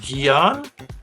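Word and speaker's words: Guion: you I think you pronounced his name gon gon gu i o n and his last name name is blueford so that's a mouthful gon blueford yeah gon is yon Blue's historic flight marked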